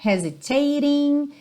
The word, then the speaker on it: hesitating: Então, olha, todos esses T's aí do ING, waiting, anticipating, hesitating, estão com rarará na música.